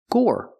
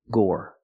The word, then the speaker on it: gore: have this word Gore the e at the end is silent so pronunciation Gore make the or sound like floor and more Gore Gore is the same idea